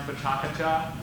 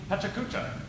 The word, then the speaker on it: PechaKucha: Pechakucha is an international nonprofit organization based out of Japan, and it is pronounced Pechakucha or potentially Pechakucha. That is still up for debate.